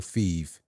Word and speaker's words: Fev: So it'd be Fev. like fever, but like Fev.